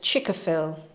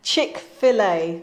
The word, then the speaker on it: Chick-fil-A: in the box and chica phil if i pronounce that right is that right chick-fil-a no sorry chick-fil-a that's correct chick-fil-a so have a have